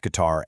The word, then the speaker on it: guitar: That U is basically a silent bodyguard for the G in words like guess, guitar, and guide. It makes sure the pronunciation stays on track.